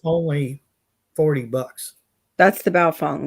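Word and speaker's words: Baofeng: here okay it's only 40 bucks that's the Bao Fung right is that how you say it that's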